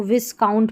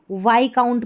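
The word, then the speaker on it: viscount: और यहां पर देखिए इसको विस काउंट पढ़ लिया। वाई काउंट पढ़ना है। वाई काउंट यहां पर एस साइलेंट है।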